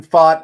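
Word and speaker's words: Pfaadt: a DT y yeah F I love Brandon fought I think he's the real deal I I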